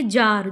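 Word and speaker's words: czar: बार पढ़ा होगा आपने जार। जार तो जार में सी होता है। ठीक है? तो रूस के सम्राट की एक पदवी है ये जार। तो सी जेड ए आर होता है उसकी स्पेलिंग्स।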